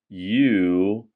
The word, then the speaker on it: unique: That makes me unique. You say it like this, you-neek.